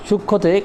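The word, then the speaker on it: সূক্ষ্ম: উচ্চারণ করা হয় না যেমন সূক্ষ সূক্ষতে খির সাথে কিন্তু একটা তোমার ম যুক্ত আছে কিন্তু যখন উচ্চারণ করা হলো তখন ম এর কোন অস্তিত্ব নেই উচ্চারণটা হচ্ছে সূক্ষ অর্থাৎ যদি ম যদি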